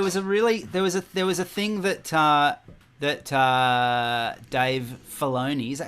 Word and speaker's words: Filoni: That the special features are quite extensive and fun, and there was a thing that Dave Filoni, is that how you say his name? Yeah, Dave Filoni.